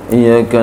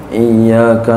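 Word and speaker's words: إياك: na'budu Wa iyyaka nastain jangan sampai bacanya iyaka na'budu wa iyaka nastain keren sih salah iyyaka na'budu wa iyyaka nasta'in salah mesti iyyaka na'budu wa iyyaka nasta mesti ada tasdidnya waa yaskuta dan bahwa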